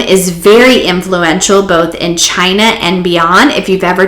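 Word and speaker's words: qi: is in here um pronounced chi but it starts with a q q i your breath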